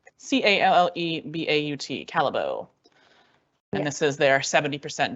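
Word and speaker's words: Callebaut: I realized it wasn't in the handout, but it's spelled Callebeaut, Calabo.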